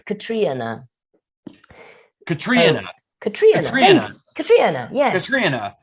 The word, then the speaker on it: Catriona: sometimes myself because people won't understand if i pronounce it the correct way it's katrina katrina katrina katria now yeah oh okay all